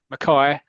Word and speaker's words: Mackay: In Scotland, we pronounce Mackay and Mackay the same as porridge, as the porridge character is said, actually played by a great actor, Fulton Mackay.